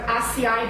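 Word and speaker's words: açaí: Then I'm sure you've heard of acai berries, that some people call ackee berries because it's spelled A-C-A-I.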